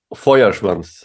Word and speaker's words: Feuerschwanz: Today we have the wonderful Hans Platz from, of course, it's Feuerschwanz, right? I'm pronouncing that correctly? Almost. It's Almost. Feuerschwanz.